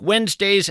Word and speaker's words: Wednesday: If you're in fact scribbling this down, Wednesday is kind of tough to spell. It's not like it sounds. You want to spell it we enz, but that of course would be a mistake.